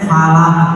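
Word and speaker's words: الفلق: A'udzu birabbil falaq, dibacanya falaq pendek.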